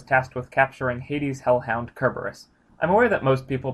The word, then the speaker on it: Kerberos: with capturing Hades hellhound cur Buress I'm aware that most people pronounce it Cerberus but in Greek it's spelled with a Kappa not a Sigma that being said the